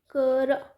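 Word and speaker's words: Chara: करा. दिस कारा is pronounce as कारा. तो हम बोलते हैं ना करा कारा, तो उससे यू कैन मैच दिस.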